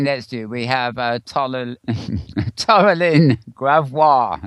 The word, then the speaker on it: Taralyn Gravois: Sitting next to you, we have Taralyn Gravois, as I say the French way, at least I think I am. Hi, Taralyn. Hello. Have I got that right? How do you pronounce it? Taralyn Gravois.